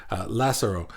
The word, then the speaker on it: Lazzaro: And Lazzaro wrote, by the way, I looked it up on YouTube, and that's how you say his name. Unless he tells me differently, but that's how I'm saying it, according to YouTube, Lazzaro.